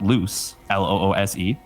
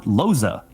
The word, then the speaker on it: Loos: Speaking of pronunciations and never correcting them, my last name is, phonetically spelled loose, Loose, which is just the greatest name. It's just awesome. Really, really evokes some good imagery. But it's actually, and I didn't know this until I was like at least 13 years old. My parents never told me. It's Dutch, just like, the captain here. It's actually pronounced Loza, which I never knew.